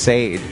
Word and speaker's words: Sade: Pronounced Sade, by the way. Are you sure? I think so. It's spelled that way. That's what it looks like.